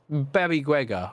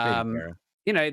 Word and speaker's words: Baby Guerra: But, this Last One team spot, we've seen this Baby Guega, or Baby Guerra, however you want to pronounce it. Yeah, I've been pronouncing it wrong. It's Baby Guerra.